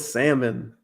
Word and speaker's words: salmon: hell yeah no it's salmon what what it's salmon the l is silent no it's salmon man